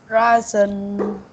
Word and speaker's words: raisin: kangaroo, raisin. Okay, very good. The only word that you mispronounce is the last photo.